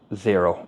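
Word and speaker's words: Xero: used are myob or zero now zero is is spelled x o instead of Z so it's x o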